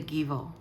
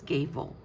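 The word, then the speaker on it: Gebo: The Givo is next to it. Okay. See, I'm saying it wrong because here it says Gavo is how you pronounce it.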